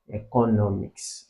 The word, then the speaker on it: economics: So the word that is sharing the same stress with education here would be economics.